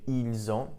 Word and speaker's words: ils ont: So you have ils ont, notice the pronunciation, the S actually does get pronounced this time.